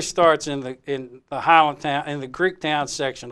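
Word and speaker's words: Highlandtown: beginning the story starts in the in the Highland town in the Greek Town section of Highland town or actually the correct pronunciation is Holland town you you have to be a b an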